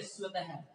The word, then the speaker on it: स्वतः: है जिसको क्या बोलेंगे, स्वतः, ठीक है, पुनः, पुनः लिखा हुआ है जिसको कैसे बोलेंगे, पुनः, ठीक है, इसकी क्या लगाएंगे, है का है उच्चारण करेंगे इसको, ठीक है ना, तो